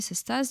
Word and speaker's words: Cestas: Cestas, prononcé Cestas, dans le sud-ouest de la France, situé en banlieue sud-ouest de Bordeaux, dans le département de la Gironde, en région de Nouvelle-Aquitaine.